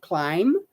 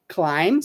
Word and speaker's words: climb: here would just say climb climb so the B the B is not pronounced okay so just climb